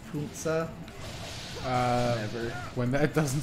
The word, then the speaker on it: Panzer: When will people realize that Panzer is pronounced Punza?